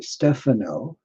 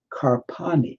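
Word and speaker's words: Stefano Carpani: Stefano, or I should always pronounce it more properly, Stefano, Stefano, Carpani, Carpani. He calls himself, and has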